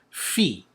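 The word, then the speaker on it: φ: This is pronounced as f, like a letter F. Fee. F, f, as in phone.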